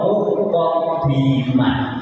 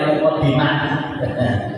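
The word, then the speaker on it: مقدمة: Jadi diwoco muqadimah itu gak boleh dibaca mukadimah gak boleh dibaca mukadimah.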